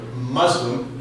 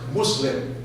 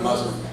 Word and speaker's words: Muslim: to use the word Muslim, however, pronounced Muslim, not Muslim, M-U-S-L-I-M with a hard S, Muslim, because that more closely approximates the Arab pronunciation.